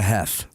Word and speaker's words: Heth: I don't know why, but I always did Heath. Because nobody's ever heard of a Heth. Who's met a Heth?